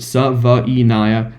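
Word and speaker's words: Savaiinaea: lot of my M drafts is a Jonah SAA yes that's how you pronounce it SAA I have done the research uh he he's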